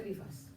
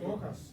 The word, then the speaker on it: Rojas: and I'm pronouncing your name with all due respect, Rivas, okay? No, And- Rojas. Rojas. Not Rivas. Rojas, okay.